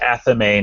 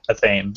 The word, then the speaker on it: Athame: So I think at the end of the day, do what you can, but it is Athame, not Athame.